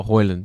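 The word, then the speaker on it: Højlund: and um how are you how did you pronounce his name Holland heart the striker oh hoyland yeah he scored but obviously Rock came back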